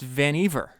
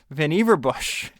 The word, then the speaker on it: Vannevar: been calling this guy Vannevar Bush. And Isaacson says uh he writes what I thought what I was reading is Vannevar and he says rhymes with beaver. It's Vannevar. Vannevar So it says um